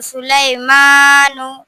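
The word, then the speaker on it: سُلَيْمَانُ: সুলাইমানু। বানান করে বলো। সিন পে সুলাম ইয়া জবরলাই সুলাই। মিম খারা জবর মা সুলাইমানু নাও পেশ নু সুলাইমানু।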